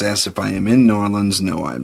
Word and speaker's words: New Orleans: New Norans. New Orleans. New Norans or Norlands or however it is you want to. There's variations on it. Don't say New Orleans because you sound like